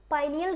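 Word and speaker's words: pineal: ठीक है, पाइनियल gland या इसको पीनियल ग्लैंड भी कह देते हैं, आपको जो सही लगे आप बोलो, पाइनियल बोलो, पीनियल बोलो, आपकी मर्जी, दोनों एक ही है। ठीक है, अपना अपना उच्चारण करने का तरीका है।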